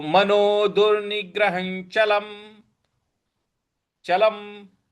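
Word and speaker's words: चलम्: तो मनोद निग्रह चलम चलम म के नीचे जो हलंत लगा हुआ है इसकी वजह से इसको हम चलम बोलेंगे चलम नहीं बोलेंगे चलम पूरा नहीं बोलना है चलम तो पूरी पंक्ति बन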